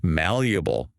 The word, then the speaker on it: malleable: Malleable. Malleable. See how the first syllable is stronger?